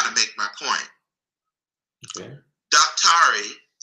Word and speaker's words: daktari: Daktari, spelled D-A-K-T-A-R-I, is really a sort of Africanized or Bantuicized way of pronouncing the word doctor.